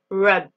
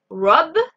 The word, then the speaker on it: rub: Et pour le verbe frotter, la lettre U, c'est comme si en français on écrivait UE. On va utiliser le son E. E. Rub. Rub, voler.